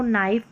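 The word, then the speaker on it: knife: के के बाद एन आता है तो शुरू में तो यहां पर के साइलेंट रहता है। नो नाइफ नी।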